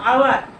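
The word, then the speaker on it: hour: ইউ উচ্চারণটা কি, এটা কনসোনেন্ট উচ্চারণ সাউন্ড, কনসোনেন্ট সাউন্ড, সেটা আমরা লিখবো। যেমন আওয়ার, আওয়ার আর হোটেল, এই দুটোর মধ্যে তফাৎ কি,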